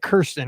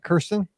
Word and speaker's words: Kristin: You say it Kirsten, right? Kristin.